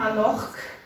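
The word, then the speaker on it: a-nochd: Сочетание CHD произносится как «х». Когда вы его видите, это тоже нам понадобится сегодня, когда Света будет рассказывать вам про месяца, вам это пригодится. Например, «анох».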